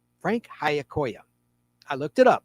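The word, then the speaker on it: Giacoia: And his last name, by the way, Hayakoya, is spelled not how it sounds. It's spelled G I A. The G is silent. C O A. Frank Hayakoya.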